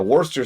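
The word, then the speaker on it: Worcestershire: For those of you aware not aware of the joke, Worster is spelled Worstershire because the British would would not know pronunciation if it walked up and smacked him in the face.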